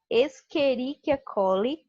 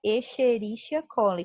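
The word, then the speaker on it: Escherichia coli: ser bem diversificada tá eu falo esqueriquiacoli tem gente fala echerichia coli como realmente se escreve está se lococcus eu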